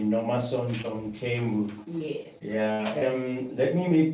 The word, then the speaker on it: Nomasonto Mthembu: I want to pronounce this name correctly. Nomasonto Mthembu.